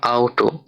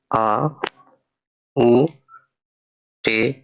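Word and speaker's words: Auto: এখানে লেখা আউটো যার অর্থ গাড়ি জার্মানিতে। তো এটা উচ্চারণ করতে হয় কিভাবে দেখুন, আ, উ, টে, ও, আউটো অর্থ গাড়ি।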